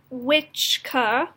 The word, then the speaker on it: Wicca: original pronunciation was that the CC was pronounced TCH so it was pronounced witch car and then it fell